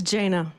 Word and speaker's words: Jana: No, it's Jana. My Jana, parents blessed me with a complicated name.